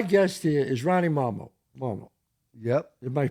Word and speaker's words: Marmo: Marmo. Yep. Am I pronouncing it right?